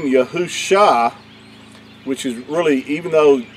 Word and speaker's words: Yahusha: yad hey and that would give you the pronunciation of yahusha not yeshua and so i just want to